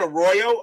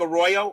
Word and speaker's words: Arroyo: nothing Phillies after eight it's just a Roy Arroyo that's how you pronounce it Arroyo okay just like Arroyo okay thank you there